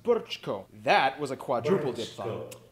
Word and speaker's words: Brčko: I know, it looks like Brčko, it's pronounced Brčko.